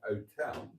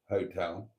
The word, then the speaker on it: hotel: and it is an hotel, not a hotel. A hotel, incorrect. An hotel is correct. You shouldn't pronounce the H because the letter H is spelled Aitch with no H.